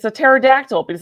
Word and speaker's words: pterodactyl: And then he's like, my kid's like, Dad, everybody knows the P is silent.